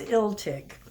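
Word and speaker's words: Illtyd: welts dictionaries online and the one that was most commonly agreed of for the pronunciation of his name was ill tick so if there are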